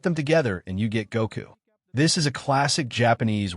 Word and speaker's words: Goku: The number five in Japanese is pronounced go, and the number nine is pronounced ku. So, put them together and you get Goku.